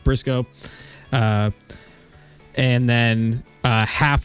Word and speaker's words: burisuko: So, it's just like this channel is spelled. Uh bootysuko if you're American, but it's actually it's just pronounced Brisco.